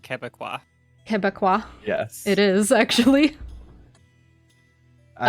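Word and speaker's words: Québécois: Yeah, Pronounced Quebecois. Quebecois.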